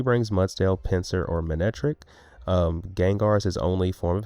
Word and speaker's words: Gengar: I know it's pronounced Gengar, but it's Gangschnar on this channel.